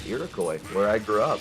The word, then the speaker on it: Iroquois: We have a school called Iroquois where I grew up. When we say Iroquois, you guys just pronounce it the French way. You guys have like a French pronunciation of it.